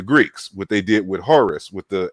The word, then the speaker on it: Horus: So it's just like if you was to say Horus. Horus is just a Greek pronunciation of Horu or Huru.